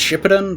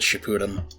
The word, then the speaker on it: Shippuden: I think it's actually pronounced Shippuden, but people also pronounce it Shippuden.